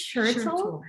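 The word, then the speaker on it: Schertle: truck by alice and i hope that i pronounced her last name correctly we we sounded out earlier er i believe it's shirtsell um but i've noticed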